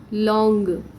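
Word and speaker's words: longue: for nouns starting with vowels public public same pronunciation sec sesh you notice this has totally irregular pattern long long here we add g-u-e to make it feminine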